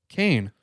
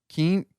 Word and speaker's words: Keane: Kane. Kane? Keen. Keen. Keen? It's Keane, right? Yeah. Keen. Okay. That's how I always pronounced it.